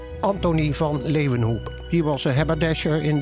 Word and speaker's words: Leeuwenhoek: L-A-Y, lay, u, then, they pronounce it with a V, Hoek, Leeuwenhoek. Anthony van Leeuwenhoek.